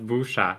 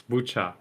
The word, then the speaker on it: Bucha: Well, I just want to make it clear, like, the way it's written, I would, if I didn't know any context, I would pronounce it Busha. Why? But it's not Busha, it's Bucha, right?